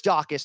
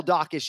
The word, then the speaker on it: Daukaus: was like you know chris dawkis the whole name is three syllables like kyle dawkish you could argue is three or four but you know for